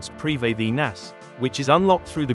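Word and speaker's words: Prifddinas: You need access to the ancient elven city of Pritheus, pronounced preinas, which is unlocked through the Grandmaster quest song of the elves.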